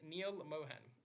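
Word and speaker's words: Neal Mohan: does and she's getting replaced with let me pronounce the name properly with Neil Mohan and Neil Mohan has also been working in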